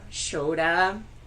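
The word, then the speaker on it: Škoda: The S in Skoda pronounces as a sh. Shoda.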